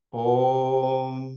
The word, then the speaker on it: om: m que es el mantran om como se pronuncia en la India om bueno como ustedes consideren pero concentrado en el